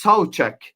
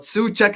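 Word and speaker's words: Souček: So I think obviously there's the guy that we all know which is Thomas Suchek but apparently it's pronounced Sek but Suchek is okay apparently but Thomas Sek is is the correct way.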